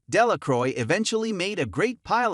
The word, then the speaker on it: Delacroix: dickie de la cora the villagers pronounced this name delacroix eventually made a great